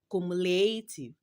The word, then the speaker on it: cumulative: In the word cumulative, the third syllable is stressed. So, you will capitalize L and A. So, you have cumulative.